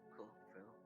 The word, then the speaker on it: Frill: Frill. It rhymes with thrill.